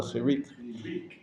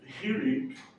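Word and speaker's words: חיריק: The one dot is called a chirik. And that, why does that, no, that's something else. Chirik. You're mispronouncing it, and it's a different vowel. Say Rei has the A sound. Chirik has an E sound.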